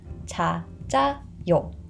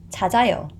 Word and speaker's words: 찾아요: And this 지읒 carries over into the empty vowel, so the pronunciation is 찾아요. 찾아요.